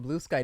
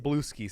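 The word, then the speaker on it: Bluesky: if they're on blue sky. No one knows what the fuck I'm talking about. Everyone yet. thinks it's pronounced Blueski.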